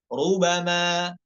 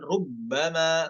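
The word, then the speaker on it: رُبَمَا: alhamidahadzi bukan lanjut 33 rubama rubama bukan ada tasdidnya bukan rubbama bukan lanjut 34 yatafayya ya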